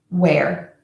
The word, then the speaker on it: where: Worry, once, where. Worry, once, where. And just a tip, where, W-H-E-R-E, as in where is it, and wear, W-E-A-R, as in I wear clothes, are pronounced exactly the same.